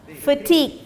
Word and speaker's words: fatigue: Pronunciation fatigue. As you say Fatima, the name Fatima. So fatigue. Fatigue.